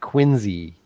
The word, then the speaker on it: Quincy: massachusetts which out there you have to call like quincy like z with a z but it's spelled like quincy because it's where our